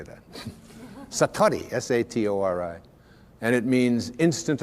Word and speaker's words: satori: it's called excuse my japanese but it's called satori i'd love to say that satori s-a-t-o-r-i and it means instant awakening the idea